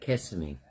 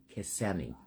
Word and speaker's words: Kissimmee: Just like Kissimmee, not Kissimmee. I call it Kissimmee. It's spelled Kississmme.